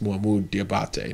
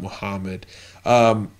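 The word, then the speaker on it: Mohamed Diabate: I don't know how much Alabama pushed at the end for Muhammad, and that is how you say it. It's Muhammad Diabate, not Muhammad.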